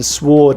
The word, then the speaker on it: sward: a big knife but in sward it is pronounced the W is pronounced retain n is the